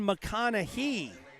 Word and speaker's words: McConaughey: are Joe on the spot with the name pronunciations. You've been feeding me some really good information this weekend. McConaughey. Okay, so Ethan McConaughey.